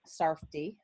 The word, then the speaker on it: Sarff: My last name, by the way, is pronounced Sarff.